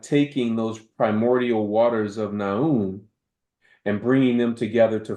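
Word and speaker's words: Nun: One of the most prominent ones tells about the primordial waters of Naun. Naun is spelled N-U-N, and that there was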